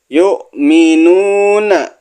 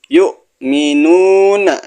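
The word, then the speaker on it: يؤمنون: walladzina zinnya dibaca panjang yukminuna yukminuna ingat ini ada huruf hamzah sukun yang dibaca hamzahnya ee yang disukun hamzahnya bukan wya Yuna gitu ya cara bacanya Yuna Bima unzila nun mati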